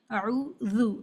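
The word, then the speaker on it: أعوذ: ایک جو بڑی غلطی ہوتی ہے اعوذ میں، لکھا تو یہ ہے جو صحیح ہے اعوذ ذال کے ساتھ میں ذو، لیکن لوگ اس کو کیسے پڑھتے ہیں، عین کو واو سے بدلتے اعوذ پڑھتے اعوذ.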